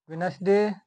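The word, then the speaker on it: Wednesday: दूसरा नियम है, यदि एन के बाद डी आए तो डी साइलेंट रहता है। जैसे वेनसडे, हैंडसम, ग्रैंडसन।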